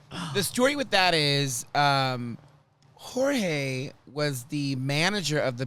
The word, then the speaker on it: Jorge: I said George, and he said it is Jorge.